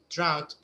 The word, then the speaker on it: drought: this word a drought drought pronounce it like out the same the same sound out yeah drought a drought